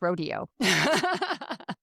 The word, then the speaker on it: Rodeo Drive: Uh, in in the West, it's Rodeo. It's just a matter of how you how you pronounce it, right?